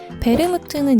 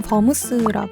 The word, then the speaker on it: 베르무트: 가양 와인은 베르무트 있니다 베르무트는 이탈리아식 발음이고 영어로는 버무스 하죠 와인에 향숙 주니퍼베리 정향